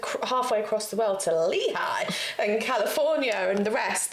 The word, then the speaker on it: Lehi: Lehigh! It's not. I swear on my life. Lehi, as we were saying, is pronounced Lehigh. It's commonly pronounced with a long E sound followed by high. Crumbs. That's Lehigh!